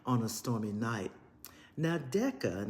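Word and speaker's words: Deka: Now, Decca, and the name may be pronounced Dika, who's the main character, finds out she has gold blood.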